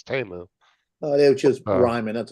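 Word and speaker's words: Temu: in the ads though they pronounce a teu have you noticed that they don't pronounce a teu they say t t I don't know if it's called TAMU or teu trying to make it sound more expensive in Chinese it probably would be pronounced TAMU yeah yeah because in the ad if you listen to the ad on YouTube whenever it comes on it says TAMU oh oh TAMU it doesn't say teu it says TAMU oh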